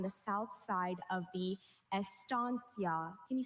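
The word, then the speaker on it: estancia: Estansia. Are there any alternate pronunciations? I have just estia. May I please have the language of origin? This word probably went from Latin to American Spanish.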